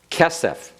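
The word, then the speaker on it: כֶּסֶף: Kesef.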